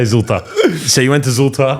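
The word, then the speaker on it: Zwolle: um you go to ZTA vam is that how you say it whatever you want of Z yeah oh holy I was far off same sh we say zult so you went to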